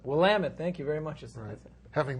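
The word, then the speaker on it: Willamette: state Carlton in Minnesota another swing state and willamet and Oregon another swing state actually it's pronounced willamet willamet thank you very much having been to Oregon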